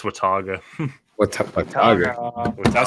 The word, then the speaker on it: Watauga: make you solo bro watuga Watauga nope wait how do you pronounce no nobody got it right it's Wataga what's up that sounds